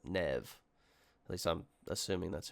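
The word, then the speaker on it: Neve: so also we've learned the companion's name is Nev that's how we pronounce it Nev at least I'm assuming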